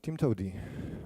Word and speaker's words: TIMTOWTDI: now or or check the source code so Tim Toady what does it stand for it's actually there